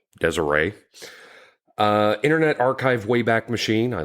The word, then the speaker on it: Deseret: website, Deseret News, I guess that's how that's pronounced. It's Deseret, Deseret.